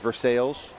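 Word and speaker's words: Versailles: to do it you might be familiar with versales oh yeah versales you know what the dumbest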